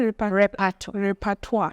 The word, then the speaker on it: repertoire: You said repertoire. Yes. Okay. Now I know how to pronounce it.